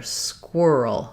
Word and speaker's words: squirrel: that same combination, but now suddenly we're having the quirr sound here, squirrel, squirrel.